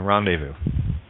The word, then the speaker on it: rendezvous: a hard s say Z is silent in rendezvous in as much as